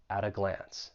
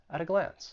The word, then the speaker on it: at a glance: for pronunciation once again that t in at I'm going to pronounce it with a flap T and then I will